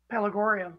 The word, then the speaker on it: Pelargonium: Pelargonium. Yeah. Pelargonium.